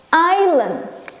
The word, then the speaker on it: island: Sedangkan kalau beach, pantai, kan kita jalan-jalan di atas pantai, atau island. Huruf S-nya huruf yang sunyi atau silent letter. Hurufnya ada tapi tidak disebutkan. Pulau kita bilangnya island.